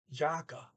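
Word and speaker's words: jakke: if you want and the word is actually jacka with j-a-k-k-e okay this over here is jakka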